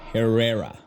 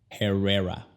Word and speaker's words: Herrera: La H no se pronuncia en español, pero en inglés sí. En inglés es como exhalar. Es como cuando te aseguras de que tu boca huele bien. Herrera.